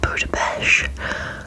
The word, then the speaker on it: Budapest: We went to Budapest, or Budapest. I know that people pronounce it differently, but we, in the UK, we say Budapest.